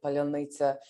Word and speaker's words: паляниця: It's also important to point out that this particular word, palyonnytsa, is it's a word that the occupier cannot pronounce, and so it's used as sort of